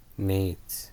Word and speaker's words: gnat: Nate. Nat. Gnat. Nat. The G is silent, right? Nat. Yeah, the G is fucking silent.